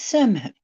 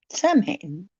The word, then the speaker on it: Samhain: Oh, well, technically, it's Samhain. Samhain. Okay, it's spelled like Sam Hain, but it isn't some guy. It's Samhain. And it's Samhain all the way until tomorrow night.